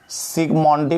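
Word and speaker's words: Zsigmondy: पहले लिख दें सिगमोंडी में जेड जो है साइलेंट है, 1901 लिखेंगे द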